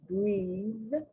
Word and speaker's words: breathe: Now that EA becomes long, breathe, and that TH is not pronounced.